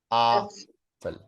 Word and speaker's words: Apfel: Apfel. Like it's like a double A and like really wide open.